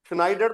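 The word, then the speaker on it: Schneider: हैसे नाइड है वो नाइड नहीं है नाइडर स्नाइडर तो होता है दर्जी जो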